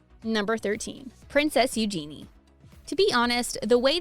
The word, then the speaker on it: Eugenie: She said in her interview with The Telegraph in 2008, the easiest way to remember it is how it sounds like you're saying the phrase, use your knee.